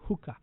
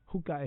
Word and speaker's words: Huca: Check before you buy your next car with the Home Used Car app, or Hooka. Hooka is spelled Huca. Hooka.